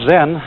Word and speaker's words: Zen: this experience is dominant then of course is a Japanese word and it's spelled zem and that is the Japanese Way of pronouncing the Chinese word Chan and this in turn